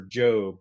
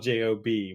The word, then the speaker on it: Job: Impossible where Tom Cruise searches for Job, but it's spelled J-O-B, which would turn up 5 kabillion hits. Excellent point. Type job in. Like, because the computer doesn't know it's Job, Right.